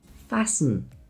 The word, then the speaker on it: fasten: Words like listen, it's not listen, it's listen. Castle, not castle. Fasten, not fasten. The ST combination in the middle of a word is almost always a signal that the T is just going to disappear.